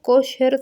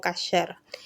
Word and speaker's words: kosher: La palabra kosher se pronuncia así en español, pero sí lo pueden escuchar en hebreo pronunciado como kasher.